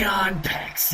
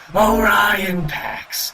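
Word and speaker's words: Orion Pax: talking to me or on PEX yeah just hurry over and make sure nobody's looking um it's actually pronounced Oran PX yeah yeah I know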